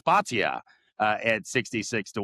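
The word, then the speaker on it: Bhatia: And then Akshay, and eventually, sometimes I pronounce it Batia, but it's Batia at 66 to 1.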